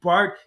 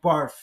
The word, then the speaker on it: Bart: Instead of calling the dude Bart, he called him Barf.